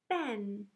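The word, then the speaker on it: been: Ben. Say it. Ben. Spell it.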